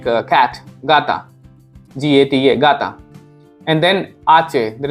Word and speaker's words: gata: Okay, and J sounds like ga when we call gata, like cat, gata, G-A-T-A, gata.